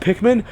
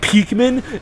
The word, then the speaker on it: Pikmin: And like, he would talk about Pikmin, but he would pronounce it Peekman, and he'd be like, Peekman, and it's like, oh my fucking god, Joseph, I want to punch you in the face.